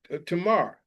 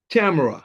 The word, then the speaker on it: Tamar: He fled the city because he killed his brother Amnon for raping his sister Tamar. Make sure I say it correctly. Tamar, yep, Tamar.